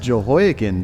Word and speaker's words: Jehoiakim: verse 30, where it says a king provided Jehoiakim, I hope that's the way you pronounce that. It's pronounced Jehoiakim, dude.